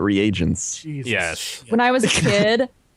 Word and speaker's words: reagents: It's like reagents. I always said Regans, not reagents.